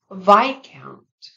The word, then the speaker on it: viscount: In these words, the silent S follows an I. Repeat after me. Aisle, aisle. Debris, debris. Viscount, viscount.